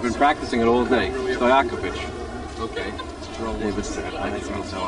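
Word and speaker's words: Stojaković: Pronounce it for me. Stojakovic. I've been practicing it all day. Stojakovic.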